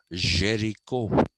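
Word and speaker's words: Géricault: Jero okay it's written gal but it is pronounced Jericho Jericho was a multi-dimensional person he was uh lithographer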